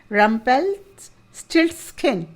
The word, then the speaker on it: Rumpelstiltskin: इसको 3 हिस्सों में तोड़ के पढ़िए। रम्पेल, RUMPEL एक वर्ड, स्टिल्ट STILT स्टिल्ट स्किन, रम्पेल स्टिल्ट स्किन।